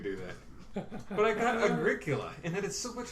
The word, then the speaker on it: Agricola: But I got Agricola, and that is so much of a better game.